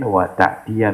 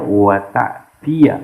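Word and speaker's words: وَتَأْتِيَ: la tanha an khuluqin wa ta'tiya mislahu. Kan ada nahinya kan, la tanha. Nah itu ada wawunya tuh. Diembed dengan fi'il mudhari. Enggak boleh dibaca wa ta'ti. Maka dibacanya wa ta'tiya mislahu. Dibaca nasab.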